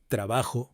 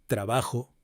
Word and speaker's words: trabajo: Spanish, সেই স্প্যানিশের উচ্চারণে, অর্থাৎ যেটা স্পেনের স্প্যানিশ, সেটা উচ্চারণে কিন্তু খয়ের মতো উচ্চারণ হয়, খ। এবার আমি অডিও গুলো প্লে করব শব্দের সঙ্গে, আপনারা শুনেই বুঝতে পারবেন। Jamón, jardín, joven, ojo, trabajo.